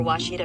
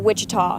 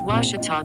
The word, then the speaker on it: Ouachita: Searching for Ouachita Baptist University. Back in Texas, everybody pronounces it Wichita, but really it's Ouachita. Ouachita. Ouachita. How would you pronounce it? Ouachita. Ouachita. It's Ouachita Baptist University.